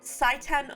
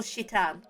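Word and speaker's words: Citan: Fay leaves with the village doctor it's either saitan or shitan I'm going with shitan cuz that's how that's the Japanese pronunciation and I it's ambiguous shitan uzuki who is human garbage that is for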